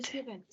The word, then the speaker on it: Tibet: Du Tibet. Oh, du Tibet. Prononce pas le T final.